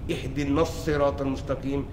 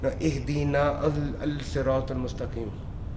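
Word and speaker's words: اهدنا الصراط المستقيم: Because you've been mentally programmed, you've heard the Imam in every single Surah read Ihdinas Sirat al-Mustaqim. So you're not going to open the Mus'haf all of a sudden and say, no, Ihdina al-Sirat al-Mustaqim.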